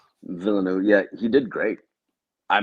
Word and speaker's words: Villeneuve: Yeah, I think Villeneuve, is that how you pronounce his Yeah, I name? think The it's Denis director Villeneuve. Villeneuve.